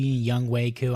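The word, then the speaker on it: Younghoe Koo: So I know we have Young Ho Koo, baby, Young Wei Koo, I know that's how you pronounce it, but oh my gosh, I've never seen a kicker so good before.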